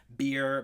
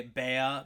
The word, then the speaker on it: Rabea: And also, just as a quick side note, I'll be pronouncing Rabea's name like either like Rabea or Beer, because I went to his YouTube bio and he has in parentheses that that's how you pronounce it. I used to say Bea, but after I saw that, I now say Beer. So that's why I say it like that.